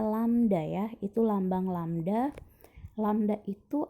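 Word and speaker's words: lambda: merah itu adalah lambang dari lamda bacanya lam Dayah itu lambang lamda lamda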